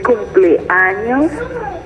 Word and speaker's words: cumpleaños: the real pronunciation. Ruby. Hello again. Hola, Ruby. Hola. Okay, can you say cumpleaños?